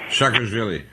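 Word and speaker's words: Saakashvili: And Putin threatened to hang, how do you pronounce his name? Shakarvili.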